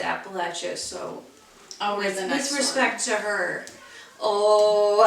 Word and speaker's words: Appalachia: is from Appalachia and it pains me to say it that way but to me it seems like it should be Appalachia but um they pronounce it Appalachia so disrespect to her